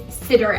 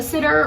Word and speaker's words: siddur: The last category that I want to discuss is siddur apps. A siddur, or a siddur, depending on how you pronounce it, is a Jewish prayer book.